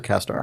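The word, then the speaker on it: CastAR: The augmented Kastar reality. stands for Cast Augmented Reality, but they pronounce it weird.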